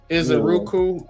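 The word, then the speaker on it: Ezeiruaku: Uh, Eric, this dude's how do you pronounce this dude's name? Isuku. Donovan is Iseruku.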